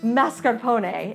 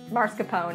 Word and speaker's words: mascarpone: heard of mascarpone cheese I'm kind of saying it right it's really mascarpone if I was Giada De Laurentiis but it's marscapone if you're me but it's basically like